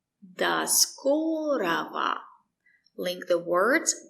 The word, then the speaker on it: До скорого: The letter O is not stressed. That's why we say da. До скорого. We don't say ro, we say ra.